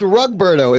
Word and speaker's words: Rugberto: And I believe it's pronounced Rugberto. Isn't that right, Rugboy? It's Rugberto. Rugberto.